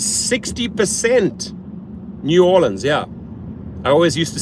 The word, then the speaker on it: New Orleans: David says 60% New Orleans. Yeah, I always used to say New Orleans.